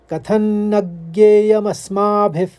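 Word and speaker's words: कथं न ज्ञेयमस्माभिः: तो आप इसको पढ़ेंगे कथन नग, हल्के से पढ़ेंगे, नग ज्ञेय ज्ञेय, फिर यहाँ पर रुक जाएंगे, फिर मस्माभिफ, उसका विसर्ग ले लेंगे फ का पा, क्योंकि दूसरे चरण में पहला शब्द प है। तो पहले चरण को इस तरह से उच्चारित करेंगे, कथन न ज्ञेयमस्माभिः। दूसरा चरण देखिए, इसको 3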